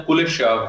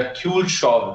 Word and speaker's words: Kuleshov: देखें कि एक बहुत पुरानी स्टडी है 1917 की, इसको हम बोलते हैं कुलेशव इफेक्ट या क्यूलशॉव effect, one ऑफ the ways to pronounce it, KULESHOV, कुलेशव effect.